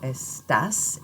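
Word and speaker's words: estás: from another one so estas is tough as dice is done make sure that when you speak you are putting the stress firmly on that last syllable and that will help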